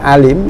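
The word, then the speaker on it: أليم: Kalau azabun alim ini pakai alif atau hamzah ya, jadi bunyinya alim ya, beda dengan yang alimun ya. Ada perbedaan pengucapan huruf hamzah atau alif dengan huruf ain.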